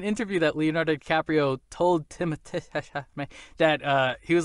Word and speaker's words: Timothée Chalamet: Apparently, I've heard him pronounce it in interviews. Timothée Chalamet. Ugh, I don't Timothée. Like that. Timothée Chalamet.